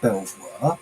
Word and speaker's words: Belvoir: Is that Belvoir? Because in England we would pronounce that Beaver.